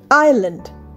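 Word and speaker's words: island: আইল্যান্ড আই এস এল এ এন ডি আইল্যান্ড। এখানে কিন্তু এস একদম উচ্চারণ হবে না।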